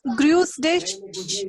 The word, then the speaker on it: Grüß dich: Gru's dish pronunciation.